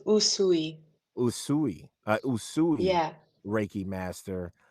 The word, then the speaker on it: Usui: A yusi. Is that a yusi? Raiki. It's uh it's pronounced usui.